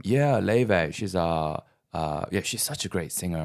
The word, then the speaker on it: Laufey: It's spelled Laufey. Laufey.